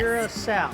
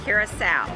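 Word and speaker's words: Curaçao: That is the proper pronunciation, correct? Yes. Curacao. Curacao.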